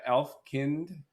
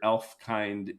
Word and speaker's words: Elfkind: So, it's it's not Elf Kind like German, it's Elf Kind. Yeah, think of it like humankind, Elf Kind.